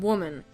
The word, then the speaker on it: woman: How about the words women and woman? The difference in spelling is in the man or men part at the end, but the difference in pronunciation is in the beginning. Woman, women.